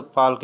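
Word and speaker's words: Palk: श्रीलंका में कौन सी पाक की खाड़ी है, जिसे अंग्रेजी में कहें तो पाल्क स्टेट कहते हैं। PAL के स्पेलिंग रखी है, पाक स्टेट इसे बोलते हैं।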